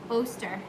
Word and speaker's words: Oster: I don't know if you guys have one of these, someone, now I can't remember, Oster. Yep, rhymes with toaster.